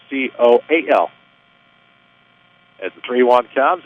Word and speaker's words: Koehl: Spelled Koehl, pronounced Coal.